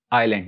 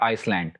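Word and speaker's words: island: उसके बाद आइलैंड, ये हम पढ़ चुके हैं क्योंकि एस एल से पहले साइलेंट होता है मोस्टली, तो इट्स आइलैंड, नॉट आइसलैंड.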